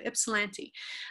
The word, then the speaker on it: Ypsilanti: I had to look up how to pronounce that one on the internet before I did it. So Ypsilanti.